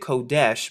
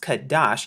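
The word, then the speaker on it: חֹדֶשׁ: strong's and we're here at h2320 now they pronounced it kodesh but in the restored translation it's pronounced kadash now notice here how they say new moon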